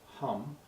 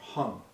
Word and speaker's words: Hum: The sixth syllable is the syllable hum or hung. So as we say the mantra at this stage we say we emphasize the h.